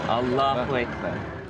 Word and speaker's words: Allahu Akbar: Inflection is on the second syllable. Allahu Akbar. I think we have a wonderful story.